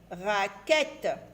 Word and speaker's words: raquette: Alors ici on a Q avec U qui se lit que, Q-U se lit que. Et on a ici E de T-E. Alors E de T-E se lit et. Et. Que avec et. Quête. Raquette. Alors voyez ce Q avec U. Le U accompagne toujours la lettre Q. Ça nous donne le son que.